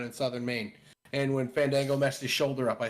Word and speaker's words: Fandango: off at the airport you mispronouncing it is far gang go oh uh I'm from Maine it's Fandango that Dango guy that